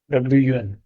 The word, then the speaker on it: one: लेकिन अगर आप इसको प्रोनाउंस करेंगे तो क्या कहता है? वन, वन, वो वन, WUN, वन, वन।